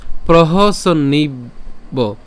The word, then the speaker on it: প্রহসন্নিব: এরপর প্রহসন্নিব, এখানে প্রহসন্নিব, এটা কি করলাম? সন, অর্থাৎ দন্তাস্য দন্তান্ন পর্যন্ত উচ্চারণ করে সন নিব, প্রহসন্নিব, প্রহসন্নিব ভারত।